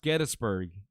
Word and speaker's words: Gettysburg: And it is pronounced Gettysburg.